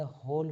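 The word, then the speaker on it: whole: हो गई इन द होल village कहां पूरे गांव में यहां पर होल का अर्थ है छेद नहीं है, अपील नहीं है। डब्ल्यू एच ओ एल ई W silent होता है।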